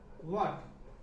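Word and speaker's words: what: जैसे देखते हैं, व्हाट, ये है व्हाट, यहाँ पे H साइलेंट है, इसको व्हाट नहीं पढ़ेंगे, इसको व्हाट पढ़ेंगे। ठीक है ना?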